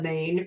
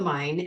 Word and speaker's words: Main: So I started on the Main, or the Main, actually, it's how they say it, and then the Rhine and the Mosel.